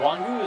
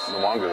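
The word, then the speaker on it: Nwangwu: It was nice to have Kenny Nwangu, is that how you pronounce it, from Iowa State back and return kicks. Nwangu, I believe that's correct.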